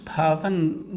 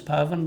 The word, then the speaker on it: Pavan: My name is Pavan, but you pronounce it with a P, and easier way to remember it is if you say Navan, but put a P in front and it's Pavan, but I'm mostly known